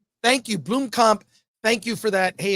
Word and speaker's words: Blomkamp: I heard a South African person explain that that's the way it's pronounced, even though no one does. So it's Blomkamp. Thank you, Blomkamp.